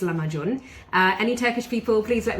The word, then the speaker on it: Lahmacun: And it's a Turkish recipe called Lahmacun, or some people call it Lahmacun, but I think it's Lahmacun.